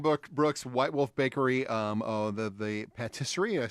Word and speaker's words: patisserie: Duran Brooks, White Wolf Bakery, the patisserie, did I say it right there? Patisserie. Patisserie. Patisserie.